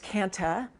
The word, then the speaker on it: kantha: stitching now we say kantha or i say kantha it's also pronounced canta without the h it's probably the more